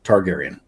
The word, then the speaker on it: Targaryen: fight targaryen you're right i said it wrong targaryen danny targaryen take a look at the image